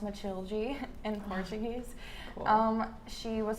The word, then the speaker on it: Matilde: yeah, so my character Matilda, pronounced Matilde in Portuguese.